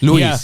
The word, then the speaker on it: Luis: Luis.